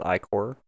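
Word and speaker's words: ichor: There's a character in Shovel Knight that would tell you to pronounce it as Icor. I don't know if that's legit, but someone says Icor.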